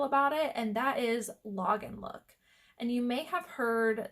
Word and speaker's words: Lagenlook: Again, that's not always, but that is just a trend that I've been noticing in log and look clothing. So log and look is spelled Lagenlook, and if you have